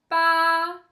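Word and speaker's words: 八: 2 3 4 5 encore une fois 3 4 5 6 Alors pour dire 8, on me dit pas avec le premier ton pa. C'est un peu comme dans le mot français par pa et on on réveille ensemble.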